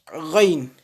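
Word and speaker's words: غ: Donc, il faut faire attention à les prononcer avec la gorge pour avoir la bonne prononciation. Donc, la lettre kha et la lettre ghain.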